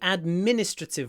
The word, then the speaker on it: administrative: mainly administrative work administrative the stress is on the second syllable administrative so we stretch the M administrative ad Min in general these when a word has Min in it you know like minute minute or minimum minimum the I is almost lost between the stretchy M and the stretchy n minute minimum administrative administrative